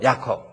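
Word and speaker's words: Jacob: 야콥. 그걸 헬라어로 야코포스. 야곱입니다. 근데 이게 영어권에 와가지고 그 제의를 발음을 하죠.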